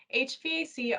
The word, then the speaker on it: HVAC: to HVAC thanks Jennifer HVAC often pronounced HVAC stands for heating ventilation